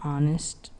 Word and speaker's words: honest: an with words that begin with the silent letter H for example an hour an honest child and honor however hospital has a